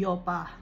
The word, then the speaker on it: Joppa: Kaya nga, diba, pero wala noon na letter J. Bago lang na-invent ang letter J. So, ang Joppa, ang pagpo-pronounce sa Hebrew ay Yopa.